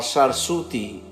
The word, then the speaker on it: Sarsuti: of a puny river pronounced variously as different deviant forms of swathi like s o r s u t i or sarsuti s-a-r-s-u-t-i by the local people noted on a number